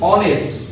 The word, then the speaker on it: honest: It is sounded with "alf", honest.